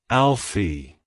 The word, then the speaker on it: Alfie: pronounced as Alie Alfie Alfie to pronounce it correctly emphasize the first syllable a l and the second Sy able fee like hello Alfie goodbye